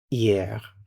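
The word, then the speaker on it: hier: And then the word for yesterday is yeah. You don't pronounce the H.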